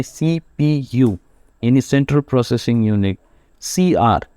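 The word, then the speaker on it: CPU: जैसे की एग्जांपल है सीपीयू तो हम इसको जो है वो अलग प्रोनाउंस कर रहे हैं इसको सीपू नहीं पढ़े इसको हम पढ़े सीपीयू यानी सेंट्रल प्रोसेसिंग यूनिट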